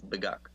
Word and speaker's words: Beguk: And also for you guys, it's Beguk, like the chicken.